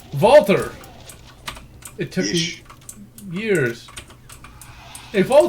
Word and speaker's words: Walther: I just now can pronounce Walther. Walther!